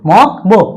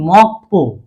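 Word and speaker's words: 먹보: তারপর একটা দেখি মক বো, মক বো, উচ্চারণটা হওয়ার কথা কি মিউম অ বাচ্চিম গিউক মক বিউপ ও বো মক বো, কিন্তু আমরা জানি গিউকের পরে বিউপ আসলে সাংবিউপ পর মতো উচ্চারিত হবে, তাহলে উচ্চারণটা হবে কি মক পো, মক পো।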